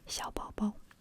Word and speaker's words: 宝宝: aquí aparte de "hola" La última parte, '宝' Aunque la pronunciación es igual en el habla cotidiana se vuelve tono neutro como cuando sweet se